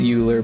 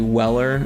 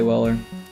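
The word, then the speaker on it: Euler: If you were to pronounce it phonetically, it's Uler, but it's the guy's name is actually Weller is how you pronounce it.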